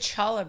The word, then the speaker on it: challah: Who doesn't like a good challah bread? Yeah, good. That's how it's traditionally pronounced as well, I believe, right?